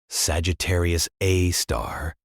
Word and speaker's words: Sagittarius A*: Our galaxy's central black hole, designated Sagittarius A, pronounced Sagittarius A star, weighs in at approximately 4.3 million solar masses.